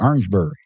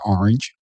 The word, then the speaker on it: Orangeburg: Orangeburg. South Carolina. South Carolina. We call it Orangeburg. Not Orange. Orangeburg. That's right. When I was When I was there, man, that's how they say it.